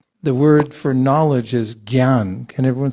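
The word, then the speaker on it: jñāna: the in Sanskrit the word for knowledge is Gan can everyone say Gan what's uh what what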